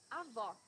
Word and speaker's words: avó: Avó, grandmother. Here you need to hear the sound of the last O in the syllable. It should be an open O, as we say in Portuguese.